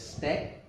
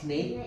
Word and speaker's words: snack: So, Mereka menyediakan minuman They should have pronounced it as snack. Snack. Snake. Sounds like Not snake. snake.